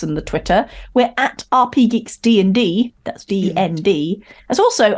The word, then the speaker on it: RPGeeks: As also, I should point out, RPGeeks. Yeah. With only one G. RPGeeks. RPGeeks. RPGeeks. Like, not RPG Geeks. Not RPG Geeks. There's not two Gs, because that would be Geeks.